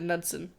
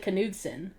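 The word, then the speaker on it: Knudsen: I said Nudson. like nut. KN makes a N sound, not a K.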